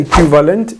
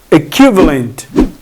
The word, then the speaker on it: equivalent: You have to be careful about the pronunciation. We don't say equivalent, it's equivalent.